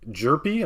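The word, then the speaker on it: Hjerpe: purple paper for Cooper Derpy I think the H is silent Lefty for the for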